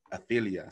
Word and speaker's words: Orfilia: it so natalie i feel ya am i pronouncing that right ophelia so i got that right i feel you